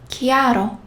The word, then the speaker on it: chiaro: If there is H, H, like chi plus H, sounds like K. Bruschetta. Chiaro.